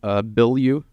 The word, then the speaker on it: Bilyeu: I really found out about you with the Tom Bilyeu. I think is how you say that? Yeah. Yeah, that Impact Therapy.